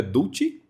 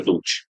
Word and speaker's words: Dulci: Inclusive, Pedro, só confirmando, a pronúncia do seu sobrenome é Dutti? Isso, essa é Dulce.